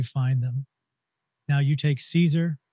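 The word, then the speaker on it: Caesar: them now you take Caeser it's Latin in Latin it's pronounced like Kaiser with a hard C but we anglicize it by pronouncing a soft C the Russians say Zar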